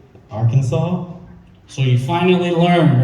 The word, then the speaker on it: Arkansas: And then he had to actually spell it. Oh, it's Arkansas. you're saying Arkansas.